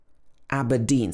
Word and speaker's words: Aberdeen: the north of england aberdeen aberdeen so this should be pronounced and the stress is actually on the second syllable here aberdeen in scotland aberdeen another town which